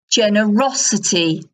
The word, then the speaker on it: generosity: consideration consideration so this the word stress shifts generous generous on the first app on generous but it's generosity on the up generosity